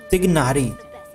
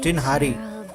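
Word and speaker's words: Tighnari: इसको अगर स्पेलिंग के हिसाब से प्रोनाउंस करेंगे तो क्या बोलेंगे? तिगनारी, TIGH, ठिग नारी, पर GH साइलेंट है इसमें, टिनहारी, टिनहारी प्रोनाउंस होता है।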